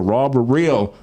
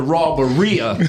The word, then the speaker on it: Raw But Real: I said it right this time. She got me last time because I called it Raw But Rhea. I said that's what it should have been, but it's Raw But Real, y'all.